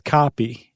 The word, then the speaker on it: caapi: And a vine known as Banisteriopsis caapi, C-A-A-P-I.